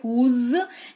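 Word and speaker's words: whose: एच ओ एस ई हुज इसको पढ़ते हैं तो हल्का सा ज का उच्चारण होता है हुज है ना ये इस्तेमाल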